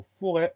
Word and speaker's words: forêt: Première syllabe, faux, F-O. Deuxième syllabe, ré. On va avoir un R, un E avec un accent circonflexe pour le son E et un T muet.